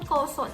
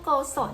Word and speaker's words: โกสน: คะ ซึ่ง เจ้า ต้น โกสน เนี่ย ดัน มี เสียง นะ คะ แบบ ออก เสียง นะ คะ คล้าย กับ คำ ว่า กุศล ค่ะ เช่น บุญ กุศล